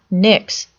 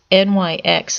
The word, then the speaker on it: Nyx: that name come from NYX NYX often mispronounced as the letters NYX is actually the